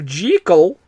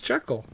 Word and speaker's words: Jekyll: Yes, because that's apparently how it was supposed to be pronounced. Oh, wait, what? Yeah, I'm not kidding. If you I always thought it was Jekyll. Well, everyone says that because that's how it looks, right?